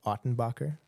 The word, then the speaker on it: Ottenbacher: the podcast I'm joined today by f ottenbacher i pronounced that correctly absolutely all right a born